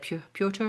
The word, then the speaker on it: Piotr: Pronounce his name. It's like Piotr. It's Peter. It's Peter. really how you pronounce that is Peter. And I've had Peter. a Okay. number of readers who say, "How? Hi. What is that?" Yeah, but it's just Peter. Just So Peter.